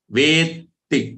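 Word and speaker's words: वेत्ति: Take the ve as very long one, and then there are two thas. Veti. So how do you pronounce it? You say vet and say ti. Veti. That's how correct pronunciation would be.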